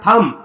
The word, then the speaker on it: thumb: जैसे बेटा देखो यहां पे THUMB, एम के तुरंत बाद बी आया है, एम के तुरंत बाद बी आया है, तो यहां पे बी साइलेंट रहेगा, बी को पढ़ा नहीं जाएगा। तो इसको क्या पढ़ेंगे बेटा? थम।